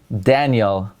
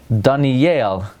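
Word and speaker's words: דניאל: my name would be Daniel, but in Hebrew, in Lashon Kodesh, my name is Daniel. It's a milra. That's how it is in Lashon Kodesh.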